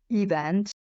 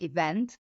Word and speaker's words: event: It happens because, for example, Hungarian is always stressed on the first syllable. So for Hungarian learners, learning the patterns of pronunciation in English sometimes prove quite hard. My learners will say event instead of event.